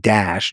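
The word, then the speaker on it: Daesh: The acronym is pronounced dash d aes uh e s.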